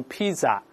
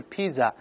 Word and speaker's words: pizza: 你像这个吃 pizza 就不能读 pizza，而是 pizza，P-I-Z-Z-A，pizza 不是 pizza。